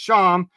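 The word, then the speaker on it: שָׁם: It says that this one's pronounced Sham, as there, thither, from there, thence, then as an adverb of time.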